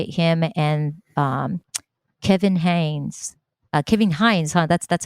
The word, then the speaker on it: Kevin Hines: Kevin Hines, that's how he pronounced his name.